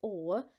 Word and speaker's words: aux: The X is silent, so this word or sounds exactly like this one, or.